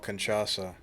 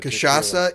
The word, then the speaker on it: cachaça: If I'm pronouncing the alcohol right, it's called cachaça.